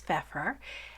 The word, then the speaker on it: Pfeffer: pronounce her name and it is fefer as I just said it's a German word for pepper just a curious little